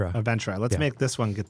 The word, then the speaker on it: Aventra: Well, let's make So, Avantra, how do you say it? Aventra. Aventra.